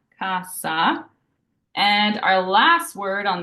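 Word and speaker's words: cassa: in English so it's a true s sound like snake so for example the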